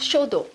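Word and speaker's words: 書道: La calligraphie japonaise se prononce shodo.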